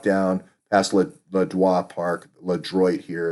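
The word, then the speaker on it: LeDroit: You'd walk down past Le Droit Park, Le Droit here it's pronounced.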